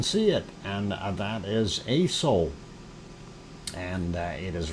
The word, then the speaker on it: Aso: And that is ASO, ASO, the way it's spelled, ASO-san in Japan.